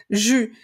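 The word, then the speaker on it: j'eus: de tous les verbes jus donc vous voyez c'est c'est complètement différent ici on a e donc jus comme le jus le jus d'orange voilà même prononciation j Ju tu eu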